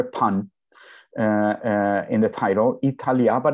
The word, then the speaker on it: Italyah: with the tav and if one takes the the the three syllables apart italia uh divided that way in hebrew these are three hebrew words e means island means